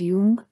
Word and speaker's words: Dung: Abok Sigun asked him his name, and he said, oh, I'm sorry, my name is Dung, it's Vietnamese, spelled un but pronounced Jung, and it means courageous.